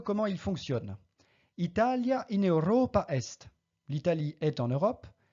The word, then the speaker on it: Europa: fait très rares là-bas un accent sur la syab en partant de la fin comme dans Roma Europa je ne dis pas Roma ou Europa mais bien Roma et Europa et enfinbas comme dans